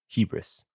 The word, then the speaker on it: Hebrus: Let's also just check the pronunciations of these. Cicones, Thracian Hebrus Hebrus? Hebrus.